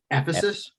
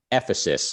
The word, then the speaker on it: Ephesus: So, first question, how do you pronounce the city from which Heraclitus hails? Ephesus. Ephesus.